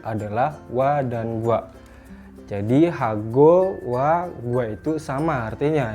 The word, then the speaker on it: 하고: Jadi dibacanya pang, hago, bab.